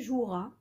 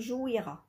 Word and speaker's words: joueras: Pour le verbe jouer, tu joueras، d'accord. on ما نقولوش tu jouiras، d'accord. c'est un E muet هنايا.